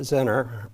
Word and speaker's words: Zener: And then a Zener, some people call it Zener, pronounce it, can be used as a voltage regulator.